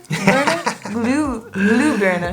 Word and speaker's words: Glühbirne: Last one, I hope I pronounce this right because I always just use the English literal translation. Glühbirne? Glühbirne.